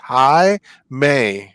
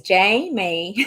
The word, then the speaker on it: Jaime: And Jaime is pronounced Hi May. I read that as Jamie.